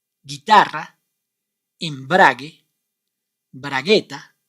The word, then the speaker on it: guitarra: words like this seguera guitarra in bragi did you notice any difference with our previous words exactly in these three words you must not pronounce the vowel uh that why and